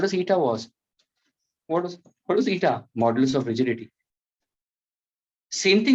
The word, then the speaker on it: eta: It's pronounced as eta.